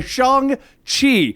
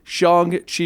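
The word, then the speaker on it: Shang-Chi: to be doing a shong chi shong gotta say it properly shang chi review can we also watch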